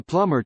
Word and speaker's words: plumber: I can send a plumber tomorrow. can의 시간대는 계속이지만 tomorrow에 의해 미래로 제한되었다. 플러머에서 비가 묵음으로 비 발음을 안 한다.